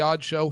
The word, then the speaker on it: (G)odd Show: And this is, for the people who are just joining us, this is the Odd Show, spelled with a G. The G is silent.